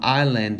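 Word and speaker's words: island: 소리가 나지 않아요 여기서도 아이슬란드 할 때 아이스하 아이스가 아니고 아일랜드 할 때 s가 소리 나지 않기 때문에 무검이 됩니다 그래서 이렇게 해서 발음해야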